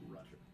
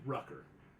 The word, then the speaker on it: Rucker: Perseus Jackson and Michael Rutter. As you see this encounter, excuse me, Rucker. I knew I mispronounced the name.